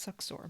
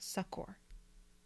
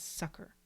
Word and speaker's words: succor: loud actually in fact the american english dictionary doesn't even give the pronunciation as succor it gives it as sucker yeah so i'm extra